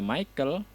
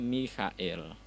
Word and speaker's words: Michael: itu sebenarnya tidak dibaca Michael, tapi dibacanya Michael.